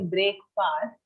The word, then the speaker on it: breakfast: So Yes, when we say it, we think it should be break fast, but actually it's more like breakfast. Breakfast. Okay. That is the pronunciation. Okay, ma'am. Okay, breakfast. Fast, long sound, nahi, short sound.